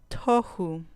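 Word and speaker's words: תֹּהוּ: Tohu. Tohu. Puse la sílaba penúltima en morado para que vean que ahí va a caer el acento.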